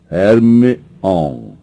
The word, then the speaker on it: Hermione: Hermione agora ensinava Krum a pronunciar seu nome corretamente. Ele não parava de chamá-la de Hermione. Hermione, dizia ela lenta e claramente.